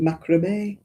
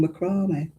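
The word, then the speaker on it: macramé: People insist on calling it macra and I'm like, "No, it's a French word. It's called macrome. It's not called macrome."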